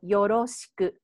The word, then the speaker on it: よろしく: And I use R, you know, the spell, the alphabet, but we actually don't have that sound. So it's a little bit different, but just, you know, it's kind of like in between L and R.